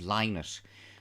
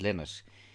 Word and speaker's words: Lynott: that name very carefully the family were always insistent on the fact that their surname correctly pronounced was linus and not limit and philip was insistent